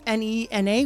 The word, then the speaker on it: Nena: deck was um uh Nena or Nina. Um so, in Spanish it's n e n a which is just means Nena which means a girl.